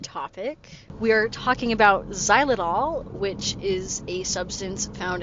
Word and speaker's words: xylitol: Why are we talking about how do you pronounce it? Xylitool.